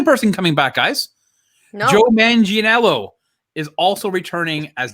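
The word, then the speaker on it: Manganiello: coming back guys joe mangianello is also returning as that's how you pronounce it manginello man yeah imagine yellow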